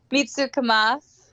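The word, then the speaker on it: 見つけます: Mitsukemas. Mitsukemas. Yeah, it's almost like a mitsuke. Like the U's almost not pronounced. Oh, like kind of like ski.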